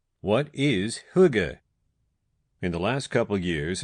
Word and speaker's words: Hygge: First of all, let's start with how you say it. pronounced huga.